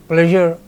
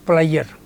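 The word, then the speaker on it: pleasure: मेज़रमेंट पैमाइश नॉट मेज़रमेंट खुशी प्लेजर नॉट प्लायर।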